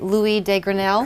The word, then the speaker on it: Louis de Grenelle: And am I pronouncing this right? Louis de Grenelle?